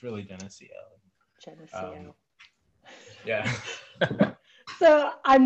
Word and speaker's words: Geneseo: when I first got there, I used to pronounce it Geneseo, and I kind of pronounced it Geneseo my entire time there, and to this day, I decide to just pronounce it Geneseo, but it's really Geneseo.